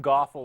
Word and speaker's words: GOFL: Yes, that rhymes with awful, but they've already won me over. You're far from awful without. You're far from GOFL without the G.